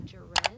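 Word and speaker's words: Jerez: then from Madrid to I think it's pronounced Jared hey y'all just checking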